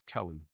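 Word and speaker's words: Calieh: name is Kelly, but she spells it with a C and has a H at the end. Like Cella, like C A L I E H. That's stupid. Spell that again. C A L I. Speak up first of all. C A L I E H. And that's Kelly.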